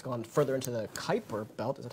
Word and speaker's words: Kuiper: And then New Horizons, now it was at Pluto, and then it's gone further into the Kuiper belt. Is that how you pronounce that?